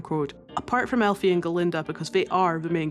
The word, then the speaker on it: Galinda: Dillamund can't say Galinda. He pronouncifies it Glinda and Galinda is a little bit being about it.